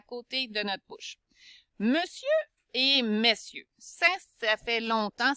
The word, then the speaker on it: monsieur: C'est sieur, c'est un monsieur. OK? Donc, il faut se souvenir qu'on dit monsieur, on ne prononcera pas mon sieur. Donc, le E indique qu'on dit monsieur et on ne prononcera pas le R.